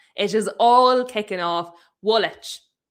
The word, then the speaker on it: Woolwich: Woolwich. Woolwich, is that how you say that place, Ash?